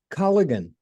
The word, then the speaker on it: Colligan: Laura Colligan owns, did I pronounce that right, Laura?